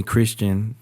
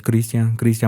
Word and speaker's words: Cristian: I was growing up, they always called me Christian. They used to piss me off so bad, especially when the people that would call me that, like Spanish speaking people. But yeah, just. Well, how do you say it? My name's Cristian.